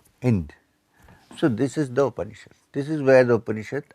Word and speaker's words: Upanishad: So what is Upanishad? It has 3 syllables, Upa, Ni and Shad.